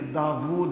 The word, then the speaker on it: داود: السلام پر نازل ہوئی۔ عموماً لوگ لفظ داود بولتے ہیں، داود نہیں ہے، داود ہے، واو کے اوپر حمزہ نہیں ہے، الٹی پیش ہے، داود صحیح تلفظ ہے۔ تو بہرحال حضرت داود